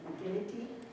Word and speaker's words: McGinnity: McGinnity?